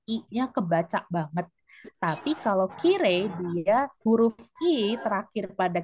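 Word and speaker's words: きれい: Kirei sensei, pelafalannya tapi kire. Sehingga dia masuk ke kata sifat.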